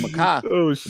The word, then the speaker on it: Mekhi: So his name is Makai, but she spelled it wrong, completely wrong.